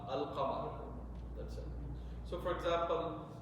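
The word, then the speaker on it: القمر: Qamariya means you will pronounce the lam, Al-Qamar.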